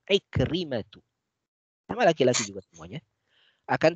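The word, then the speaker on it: عكرمة: Ikrimatu, laisa Ikrimatun, ya, dan seterusnya.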